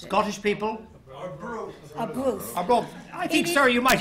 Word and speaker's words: Arbroath: Arbroath. I think, sir, you might even be from Arbroath. You were so enthusiastic about that. Arbroath. Arbroath. It sounds like a broth with a nice Scottish accent, doesn't it, as opposed to mine.